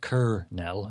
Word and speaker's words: colonel: pronounced instead of cor kernell as in C um it's Kel Kel but the L is almost silent is it's kernel that's